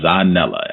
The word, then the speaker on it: Zanele: Zanele, am I pronouncing it correctly?